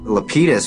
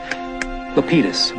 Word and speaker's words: Lapidus: Hey, Lapidus. They pronounce it Lapidus, but I think the correct Greek is Lapidus.